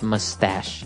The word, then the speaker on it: mustache: little bit uh difficult to understand how you pronounce it because it's m u s t a c h e so there's no really sh sound like sh but you pronounce it mustache mustache yeah so that's one kind of facial